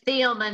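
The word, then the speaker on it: Thielmann: My last name is Thielman. It's spelled T as in Tom, H-I-E-L-M-A-N-N.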